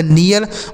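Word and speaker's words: near: Next word है एन इ ए आर। तो एन से हो जाता है दोस्तों न। इस इ ए का उच्चारण इ होगा। क्यों इ होगा? क्योंकि आर है। अगर इ ए के साथ आर होता है तो इ पढ़ेंगे। आर से र इसे पढ़ा जाएगा नियर मतलब होता है पास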